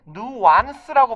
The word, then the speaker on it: nuance: 애초에 이게 그래서 영어 어원 자체 얘도 불어에서 온 표현이기 때문에 누안스라고 발음은 합니다.